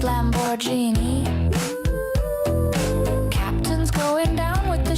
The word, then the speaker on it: Lamborghini: Darling, it's pronounced Lamborghini.